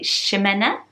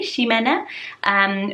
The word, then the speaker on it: Ximena: So if you're Portuguese, they say Ximena, apparently, Ximena, or if you are